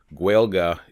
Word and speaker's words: Gaeilge: Gaelic is a language group. Gaeilge is a Gaelic language. Gaeilge is specifically to Irish.